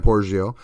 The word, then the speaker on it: Porzio: Giles, and Dan Porzio, and just in case you're wondering, that is the correct pronunciation according to Dan Porzio.